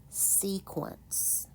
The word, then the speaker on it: sequence: pronounced C Quant sequence in English words Q counts as one sound it a q is